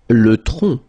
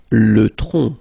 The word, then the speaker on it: tronc: Le tronc. Le tronc, okay, remember, final C is not pronounced here. Le tronc, okay?